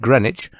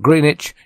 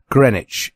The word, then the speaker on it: Greenwich: greenwich in london england the producer tells me that i must pronounce it greenwich not greenwich in my best received pronunciation so here it is greenwich in london england that